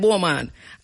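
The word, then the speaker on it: Beaumont: right where somebody said I'm going spell it to you because you don't know where me talking it is B E A U M O N T B right but we call it Bulman and it is in Hopewell St.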